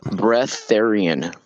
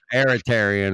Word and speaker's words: breatharian: It's called breatharian. Breath, like the word breathe, and then Aryan. Yeah, I was like Aeritarian or whatever.